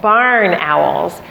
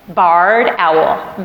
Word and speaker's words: barred owl: white owl that is commonly confused and called barn owls but it is pronounced and spelled barred owl b-a-r-r-e-d you can remember this because they have bars on their chest they're year-round residents that